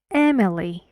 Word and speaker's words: Emily: first mix so one air in here Mexican Emily Emily Emily to three syllables and M Emily Emily Ben don't don't